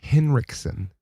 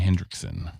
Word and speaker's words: Henriksen: Henriksen. Oh, he's German. I think that's German. Rick Henriksen. Henriksen. Jimi Hendriksen. There's no D, Bobby. It's in Jimi Hendrix.